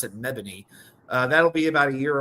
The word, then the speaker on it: Mebane: It's spelled Mebane, but they pronounce it Mebane.